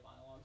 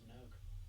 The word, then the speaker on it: Minogue: you probably heard kylie monolong's music without realizing it i i'm just i swear that's pronounced minogue you might be i